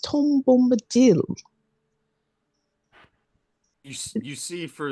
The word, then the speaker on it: Tom Bombadil: His name has not gone around that much, but Tim Bimbado? I believe it's pronounced Tom Bombadil.